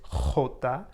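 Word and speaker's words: jota: e and j is hota so you're going to be saying it from your throat so it's a pretty rough pronunciation then k is ca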